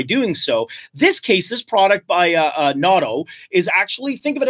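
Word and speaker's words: Nauto: Well, the technology is a product called NATO, N-A-U-T-O. NATO, I guess, is a better pronunciation.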